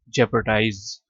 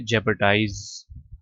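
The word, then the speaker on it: jeopardize: सा mistake error blunder गलती इनेंजर threaten risk जेपोटाइज अच्छा ये ब्रिटिश एक्सेंट में ना आर साइलेंट है और इसको आप पढ़ेंगे जेपरडाइज ठीक है खतरे में डालना ग्रैंड ग्रेट लार्ज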